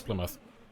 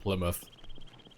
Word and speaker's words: Plymouth: expensive that's how you oh that's how you pronounced Plymouth yeah it's Plymouth what did you think it was Plymouth I was going down to Plymouth is I is got to sell my ters it's pronounced Plymouth yeah get off me land let me let